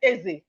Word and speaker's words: Eze: So you pronounce it Eze. That's E-Z-E. You know, how will I pronounce Eze?